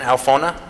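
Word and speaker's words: Alphona: ¿Cómo se pronuncia el apellido de él? Adrian Alfona.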